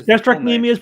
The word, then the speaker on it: gastrocnemius: the calf muscle oh do you pronounce it gastric gastroc gastrocnemius it's gastrocnemius but we call it the gastroc for short all